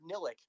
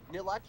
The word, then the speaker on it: Nillihc: I tried pronouncing it a couple of times, and I thought, Nillihc, Nilleth, Nillihc. Yes, life is Nillihc, and I've just been rolling with it ever since.